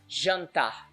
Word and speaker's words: jantar: So take for example the word jantar. Jantar. As you see, we got AN there in the middle, so that's how it's pronounced. Jantar. So as you see, it has a nasal sound as well.